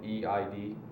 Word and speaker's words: Eid: It's spelled EID. Okay. And it's like Eid. It's like the last day of Ramadan, and it's like the greatest day ever.